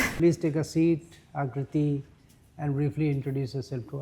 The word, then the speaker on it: Aakriti: Sir, phonetically if we see Akriti, so double A is gives the same sound.